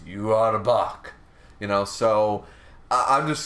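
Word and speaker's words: Yhwach: two words and uh in Japanese that's how they pronounce yua's name is you are a buck you know so I'm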